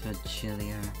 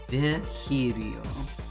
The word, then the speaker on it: Virgilio: You look winded, Virgilio. Virgilio? It's pronounced Virgilio.